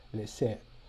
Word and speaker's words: laisser: See, for example, this word laisser, where the A and the I represent a sound that's more like so this word here is laisser.